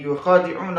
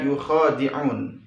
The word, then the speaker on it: يخادعون: Pada qiraat Imam Abi Amr Al-Basri, yakhda'un dibaca yukhadi'un. Berbeda dengan qiraat Asim. Kalau Asim dibaca yakhda'un, sedangkan Abu Amr Al-Basri dibacanya dengan yukhadi'un seperti pada kalimat yang pertama.